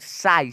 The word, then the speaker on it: sigh: अब देखो GH का ना यहाँ पे कोई भी साउंड जो है उच्चारण नहीं निकला है। SIGH, साई।